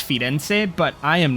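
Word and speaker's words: Firenze: we are now finally in Florence I know in Italian it's fense but I am not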